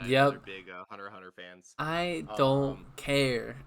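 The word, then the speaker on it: Hunter × Hunter: Someone David from Shouldn't Flop earlier called me out for pronouncing the X. You're supposed to Yeah, just say Hunter Hunter.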